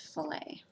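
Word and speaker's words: fillet: chapter which is spelled like Filat but it's pronounced filet they had Footwear but they don't think that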